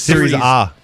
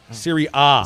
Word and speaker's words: Serie A: I thought it was Series A. Serie A. Serie A. Yeah, Series A, whatever. They don't pronounce it A in Italy.